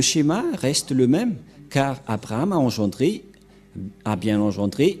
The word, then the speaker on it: Abraham: prononcent le Dieu d'Abraham mais pour eux c'est plus ébrahim mais Elia vous dit que c'est Abraham car on l'a retrouvé premièrement dans le livre juif les Juifs ont prononcé Abraham c'est-à-dire que le Dieu